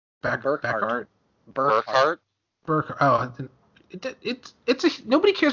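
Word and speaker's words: Berkhart: Okay, Daniel Beckert has Sinister Syndicate team ability. Can't even pronounce the last Scientist. name right. Burkhardt.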